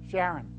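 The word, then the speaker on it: Charron: of this company it's Paul Sharon or Karen pronounce it Sharon Paul Sharon is a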